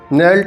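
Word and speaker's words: knelt: आगे देखते हैं, the silent letter in the word नेल्ट इज़, तो नेल्ट में जो है के यहाँ पर साइलेंट लेटर होगा दोस्तों, आंसर हो जाएगा ए, 27 का ए आंसर हो जाएगा।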